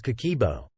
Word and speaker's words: Kakeibo: What exactly is Kakeibo? It translates to household financial ledger and is pronounced Kakeibo.